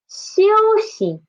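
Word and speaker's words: 休息: First one is 休息. 休息, it means to rest. To rest. 休休, xi is this one is the neutral tone, okay?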